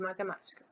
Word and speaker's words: matemática: Então, vamos encontrar a sílaba tônica de matemática.